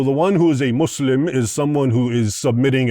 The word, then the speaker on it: Muslim: It's not Islam, it's Islam and it's not Musl it's not Muslim, it's Muslim and the two words are connected, right?